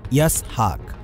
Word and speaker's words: ইসহাক: ইসহাক প্রচলিত ইংরেজিতে আইজ্যাক ইসহাক শব্দের উচ্চারণ ইয়াসহাক এটি হিব্র ভাষার শব্দ